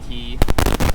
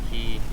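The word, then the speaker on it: cay: bottom side of Long Key. Um, I realize I'm saying K and key. Spelled C A Y, but it's pronounced key.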